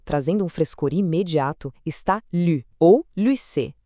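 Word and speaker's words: 绿: Essa pontuação sobre a letra U, no pinyin, o nosso velho conhecido trema, exige um som mais fechado, pronunciado com os lábios bem arredondados, junto com o quarto tom, que é aquele descendente e bem afirmativo.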